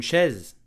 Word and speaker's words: chaise: Une chaise, a chair. Chaise, slowly. Chaise. Chaise. So the sh sound, okay? Then an open e, okay? Then a z sound. Chaise, one syllable and a small piece of history.